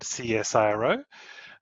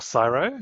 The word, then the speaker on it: CSIRO: I work at a research organization in Australia called CSRO or Cyro. You can choose how you say it.